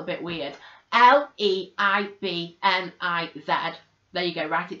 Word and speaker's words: Leibniz: Really interesting to bring in here a key thinker, Leibniz. I think that's how you say his name. It's spelled a bit weird. Leibniz.